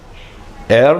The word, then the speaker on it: heir: Heir means Anandaravagashi. That's a wrong usage. The pronunciation is heir, so we have to use an. H is silent in that.